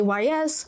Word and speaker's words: Ys: me I am sorry some people say Ys I say yeast to put it simply